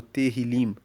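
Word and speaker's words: Tehilim: Inclusive a palavra salmos para a Bíblia hebraica, que é o texto original da Bíblia, é terrilim. Terrilim se escreve T E H I L I M.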